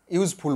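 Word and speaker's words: useful: Your উচ্চারণ কি হচ্ছে, ভাওয়েলের উচ্চারণ ইউ এর মতো হচ্ছে, তাই এখানে এ ইউজফুল বুক হবে।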